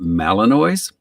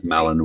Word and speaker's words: Malinois: i i pronounced it malinois apparently it's malinois like mayonnaise or something i keep going so